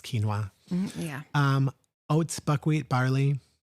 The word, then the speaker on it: quinoa: suggest right uh brown rice oats quinoa or Canoa as some people say I just laugh quinoa um and and if it is pronounced Cano which I know it's not um don't come at me it's quinoa yeah um oats buckwheat barley mhm um some